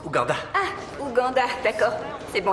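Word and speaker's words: Rwanda: t'aime je t'aime aussi ça se prononce ouanda ah Uganda d'accord c'est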